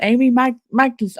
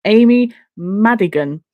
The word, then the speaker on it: Amy Madigan: Weapons has Amy Magnus. I can't pronounce her name. I'm so sorry. What's her name supporting Amy Madigan?